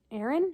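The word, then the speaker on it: Ahren: I get Aaron, spelled with an A-H-R-E-N, like hair, hen.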